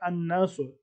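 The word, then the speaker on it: الناس: अन्नास, अलनास, अलनास, लाम, अलिफ लाम इसमें साइलेंट है तो हम अलिफ और नून मिला के पढ़ते हैं अन्नास, चूंकि अन्नास में अलिफ और लाम है तो इसका मतलब है कि द पीपल।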